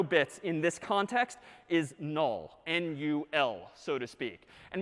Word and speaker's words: NUL: this character is again sort of pronounced null or written n-u-l so that's all right